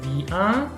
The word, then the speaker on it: vient: Entonces, pronunciación básicamente igual, ¿no? Vient, vient, vient. Ujú. Esto es una cosa que tiene el francés. Se ponen muchas letras al escribir, pero la pronunciación no cambia.